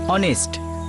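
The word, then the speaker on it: honest: ইউ R right, অনেস্ট এইচ দিয়ে শুরু হয়, কিন্তু ফোনেটিক্সের উচ্চারণ মানে প্রনাউন্সিয়েশন ও দিয়ে হয়, অনেস্ট।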